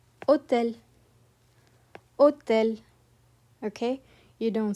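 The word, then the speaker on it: hôtel: It is always completely silent. For example, in hotel, you don't breathe out an H sound, okay? You drop it entirely. You don't say hotel, you say hotel, hotel, okay?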